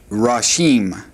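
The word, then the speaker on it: ראשים: But if we want to say heads, or sometimes this word's translated leaders or chiefs, then we would say rashim, rashim.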